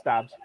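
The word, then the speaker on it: Doubs: I don't know how to pronounce his last name, but Dobbs. Yeah, you got it. It's Dobbs.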